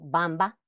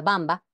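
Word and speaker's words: Wamba: antiguo pueblo germánico ejemplo Bamba se escribe allí con la W pero se pronuncia Bamba un rey fundador de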